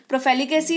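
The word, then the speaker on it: profligacy: है ना, आपके उच्चारण मैंने दे रखा है तो दिक्कत नहीं होनी चाहिए आई गेस, है ना। प्रोफेलिगेसी इसको पढ़ते हैं, इसका मतलब होता है सीधे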